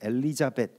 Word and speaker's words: 엘리자벳: 정도가 될 것입니다 뭐 성경에서 엘리자벳 이렇게 발음이 되고 영어식 발음의 엘리자베스 엘리자베스 테일러 여러분 연세 있으신 분들은